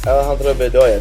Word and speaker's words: Alejandro Bedoya: Alejandro Bedoya.